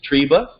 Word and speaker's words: Tryba: I was asking was how we're pronouncing your last name and it is tree buh that's correct I'm not saying they're